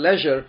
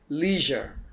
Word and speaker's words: leisure: okay by the way this word leisure rhymes with pleasure measure that's how you can